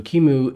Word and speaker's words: QEMU: gooey front end to Kimu so Kimu is spelled qemu and it's the software